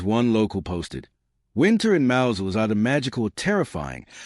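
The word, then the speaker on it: Mousehole: As one local posted, winter in Mousel is either magical or terrifying, depending on whether the one shop is open. Also, it's not pronounced mouse hole. Stop saying mouse hole.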